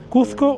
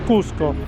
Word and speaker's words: Cusco: Por ello, lo correcto es Cusco, con S.